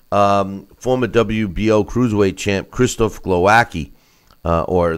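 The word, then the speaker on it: Głowacki: WBO cruiserweight champ Christophe Glowacki or the way they pronounce it is glow ascii improved to 30 and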